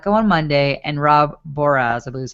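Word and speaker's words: Boras: So offensive coordinator Frank Signetti was let go on Monday, and Rob Boraz, I believe is how you say his name. I always want to say Borat, but it's Boraz.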